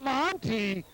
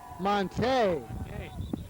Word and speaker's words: Montini: Monty and forgive me I've had it all wrong. It's Monte the French pronunciation.